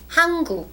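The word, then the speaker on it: 한국: part of Korea how do you say Korea hungu hungu all right and the bottom part is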